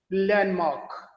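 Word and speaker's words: landmark: ये देखें डी, एक इससे पहले ये भी कॉन्सोनेंट है, एन ये भी कॉन्सोनेंट है, इस डी को आप ड्रॉप कर सकते हैं प्रोनाउंस करते हुए लैंडमार्क, लैंडमार्क कहने की जरूरत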